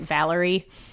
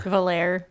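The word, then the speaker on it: Valere: I was pronouncing it Valerie. Oh, and instead of Valer. Valair. Yeah. V A L E R E. Just just Valerie. Just without the IE at the end.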